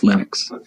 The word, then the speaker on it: Linux: pronounce my name but linux is always linux he developed a kernel